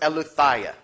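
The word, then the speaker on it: Eileithyia: It's pronounced Eleutheia.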